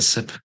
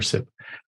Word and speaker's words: CIP: is that pronounced actually is it kit or sip step I think I'm just going off what Charles says but it's sip sip okay we'll call it sip for right here um